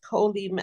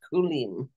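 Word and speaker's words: כֻּלִּים: Why is it not kolim and it's kulim?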